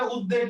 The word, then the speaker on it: উদ্বেগ: তাহলে এটা উদ্বেগ না। হবে কি? উদবেগ।